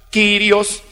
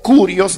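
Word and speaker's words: κύριος: Pero sucede que como Adonai también es hebreo, al griego se traduce por la palabra Kyrios o Kurios, dependiendo si se adopta la pronunciación antigua o moderna del griego.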